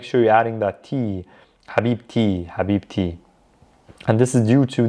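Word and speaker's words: حبيبتي: the car of someone i pronounce the t when i'm connecting it to another word so in this case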